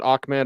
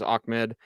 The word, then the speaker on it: Ahmed: Salvon Ahmed, and I've always pronounced it Ahmed. I did double check on PFR. They have it as Ahmed.